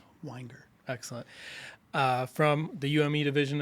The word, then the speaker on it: Weinger: It's just Weinger. It's just bottle of wine. Weinger.